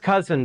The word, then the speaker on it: Kousen: spelled that way uh it's pronounced cousin by the way like the relative it just doesn't look like it we think it was